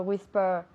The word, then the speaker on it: whisper: Whisper, la ER al final se pronuncia como si fuese una A.